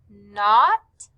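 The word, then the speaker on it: knot: circled were the words not and knack. Both of these words begin with the K N sound, but since the K is silent, we just hear N, not, knack.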